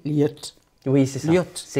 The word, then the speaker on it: Lëd: On commence par Caril Ferret avec un livre donc que vous prononcez L'aide. Et alors, je vais un peu faire ma frimeuse, pardonnez-moi, mais il paraît qu'on dit liette.